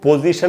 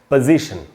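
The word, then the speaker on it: position: इसको पोजीशन नहीं बोलना चाहिए, यहाँ पीओ से उच्चारण प होगा, पो नहीं, पोजीशन। और इसमें जो स्ट्रेस है वो आई पर है, पोजीशन।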